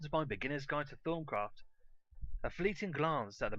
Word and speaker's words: Thaumcraft: I like to pronounce it Thaumcraft. My reasoning for this? This little gimmick here, which you get pretty early on, the thermometer. Now that should be a guide because it's definitely an in-joke.